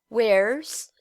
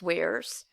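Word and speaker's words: whereas: Então, aqui a gente tem na letra A, wears, que é a mesma pronúncia de where is the dog, wears.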